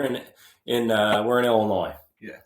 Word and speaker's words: Illinois: know what other option don't pronounce the S it's like here in in uh we're in Illinois yeah it's not Illinois